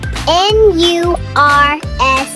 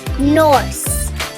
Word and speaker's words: nurse: How would you pronounce N-U-R-S-E? Some say it is pronounced Norse.